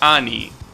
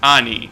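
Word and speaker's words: 兄: let's see uh yeah it was annie that's how you say it that's the the actual word no it's not it's ani that's the word that specifically means older brother obviously nissan and onisan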